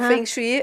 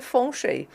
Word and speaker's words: feng shui: como os chineses falam fengchi é como os brasileiros olham escrito e leem mas o o a pronúncia original na China é fon Chei aí às vezes sai